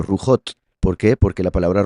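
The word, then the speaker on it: רוחות: Ahora bien, cuando se habla de espíritus en plural en la escritura no se dice ruhim, se dice rujot.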